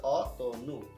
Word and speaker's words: অতনু: অতনু না, এটা হচ্ছে অতনু, কারণ পরে কি রয়েছে? উকার রয়েছে। এই উকারের কারণে কি হয়ে যাচ্ছে? অতনু, ওকার হয়ে যাচ্ছে।